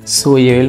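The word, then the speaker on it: 수요일: বুধবার হচ্ছে সু মানে হচ্ছে বুধ, এরপরে ইল, সুইল, সুইল মানে হচ্ছে বুধবার, সুইল উচ্চারণ হবে সুইল, সুইল, সুইল, সুইল মানে বুধবার।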